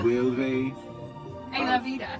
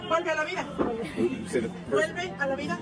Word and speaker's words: Vuelve a la vida: Vulve. A la vida. That means something of life. Vulva of life. Excuse me, can you pronounce this one? I'm sorry. Vuelve a la vida.